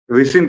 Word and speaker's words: ricin: जो रिसिन नाम का, अब वो कुछ लोग उसको राइसिन लिख रहे हैं, कुछ लोग उसको रिसिन लिख रहे हैं, क्योंकि टेक्निकल नेम है, केमिकल नेम है। तो मैं आपको स्पेलिंग बताता हूँ, RICIN, ये उस केमिकल नाम है उस जहर का। रिसिन कह लीजिए उसको, अगर आप सामान्य